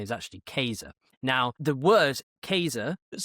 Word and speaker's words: Caesar: The name Caesar, of course, now in uh classical Latin, the letter C is pronounced K. So like you said earlier, his name is actually Kaser.